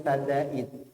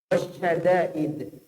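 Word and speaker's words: شدائد: Lindungi kami dari bala dan sadaid. Sadaid itu pakai istilah, jauhkan kami dari kelurusan. Ada pakai syadaid, jauhkan kami dari kesempitan. Dia inginkan itu, tapi yang diucapkan pakai huruf sin, harusnya pakai shin.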